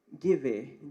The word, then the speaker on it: Giveh: The answer here is, color me right if the pronunciation is wrong, Giveh, G-I-V-E-H.